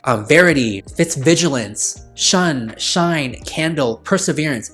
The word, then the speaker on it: Shun: So yeah, we have Fitz, Vigilant, and Shun, which is pronounced Shine, but unfortunately for the longest time, I was pronouncing or mispronouncing her name as Shun, and I was like, that is such an unfortunate name. Later in the books, he's like, oh, it's pronounced as Shine, and I was like,